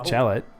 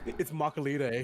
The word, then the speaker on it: Machalite: You mean Macalite? Macalite? What? There you pronounce it. No. Machalite. Gotta say, I've been saying this wrong this entire time. Macalite. It's Macalite. Macalite. I'd like a Macalite Frappuccino. Like, I'd like a mocha frappuccino.